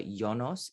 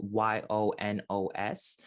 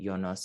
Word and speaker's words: Yonos: be doing the mantra yonos it's pronounced y-o-n-o-s but you can also think of it as y-u-n-u-s jonas if you want to pronounce it jonos instead of yonos one